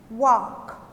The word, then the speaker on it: walk: verbs the first picture walk walk L is silent walk to Walk number two